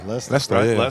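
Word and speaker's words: Leicester: Pronounce that for us. Lester. Lestering. Yeah, Lester.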